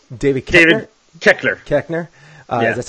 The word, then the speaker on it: Koechner: see what was his name David David Koechner Koechner yeah that's how you pronounce it so you got to see him